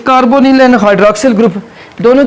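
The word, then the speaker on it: carbonyl: कार्बोनाइल भी कुछ लोग इसको बोलते हैं, कार्बोनिल बोलते हैं, ठीक है, कार्बोनिल ग्रुप। वैसे भी देखिए प्रोनाउंसिएशन के अंदर आप जो ना, ये केमिस्ट्री में यह है कि जहाँ पे भी NY हो ना, तो उसको निल यानी I के सेंस में लिया जाता है, कार्बोनिल ग्रुप, ठीक है।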